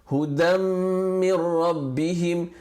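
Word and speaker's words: هُدًى مِّن رَّبِّهِمْ: A full merger, for instance, hudam min rabbihim, the sound of the tanween, the n sound of the tanween disappears altogether because hudan min rabbihim. That's how you spell it, hudan min rabbihim. But when you read it with idgham, the n of the dan just completely disappears and merges into the meme.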